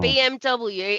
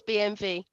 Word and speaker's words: BMW: BMW isn't called a BMW.